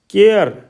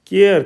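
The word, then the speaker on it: care: इसकी धवनी में जो आएगा तो जैसे इसमें है केयर केयर केयर मतलब चिंता सी ए आर ई केयर डेयर डेर क्योंकि इसके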